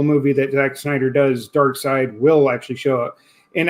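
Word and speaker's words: Darkseid: saying I'm saying s like you see how it's spelled s e and then I D S so it's dark s dark to this dark side I keep saying dark seed I don't know why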